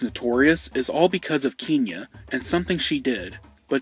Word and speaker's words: Kenya: This is a different one, and her name is actually pronounced Kenya.